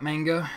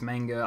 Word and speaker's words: manga: It really depends on who and what you talk to about manga, because in Australia and English it's pronounced manga. Other people say manga because they're like the people who try hard.